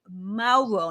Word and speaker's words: Mauro: used to anley shake but it's actually anley Maro now if I pronounce that the German accent and you Maro